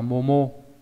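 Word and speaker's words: 桃: Đào này đọc là momo.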